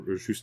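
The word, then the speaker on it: Juste: it did you did you expect to see justy Belmont or ju Belmont I'm gon his name is ju I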